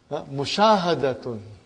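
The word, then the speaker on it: مشاهدة: And then Mushahadatun. You say in Urdu Mushahada. So because you did not pronounce tun, so it is mu sha ha da tun.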